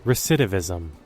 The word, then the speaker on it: recidivism: Pronunciation. Recidivism.